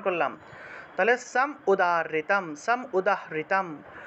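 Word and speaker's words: উদাহৃতম্: নিচে রস উকার রস্য উকারটাকে ভেঙে রস হিসেবে উচ্চারণ করলাম তাহলে সাম উদারিতাম সাম উদাহরিতাম উদাহৃতাম এই যে এর সাথে ঋকার সেজন্য উদাহৃতাম উদাহৃতাম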